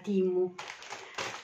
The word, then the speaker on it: Temu: c'è nel pacco della temo che poi ho capito che la pronuncia giusta sia timu diciamo temu è come scritto però si pronuncia timu anche se viene difficile